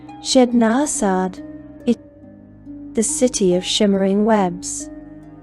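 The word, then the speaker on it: Ched Nasad: We are going to Chednasad, pronounced Chednasad, the city of shimmering webs.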